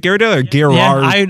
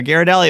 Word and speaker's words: Ghirardelli: story of Ghirardelli and also how to properly pronounce it yeah you got it right Ghirardelli is it Gyarados I went straight to the source okay because